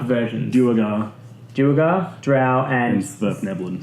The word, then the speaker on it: Svirfneblin: Duergar Duergar, drow, and Svirfneblin. Snefleblin. Man, I always get caught out trying to pronounce that word. Svirfneblin, also known as deep gnomes.